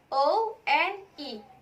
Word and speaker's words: one: The spelling is O-N-E atau O-N-E. But we pronounce it one, as like sound W.